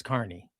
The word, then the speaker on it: Carney: So Scott Carney is how you pronounce it. It's not Kearney, it's Carney.